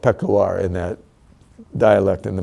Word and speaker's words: Peshawar: And I mispronounced Peshawar. It's called Peshawar in that dialect in the mountain there.